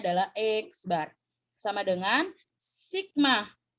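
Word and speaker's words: x̄: Jadi kalau kamu menemukan simbol seperti itu adalah simbol min, dan cara membacanya adalah X bar.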